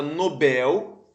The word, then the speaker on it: Nobel: letra c de casa a palavra Nobel é oxítona isso a palavra fortuito